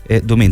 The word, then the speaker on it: Duemint: con Félix said seo y cofundador de dumin dumin está bien pronunciado Sí ya perfecto dumin eh por este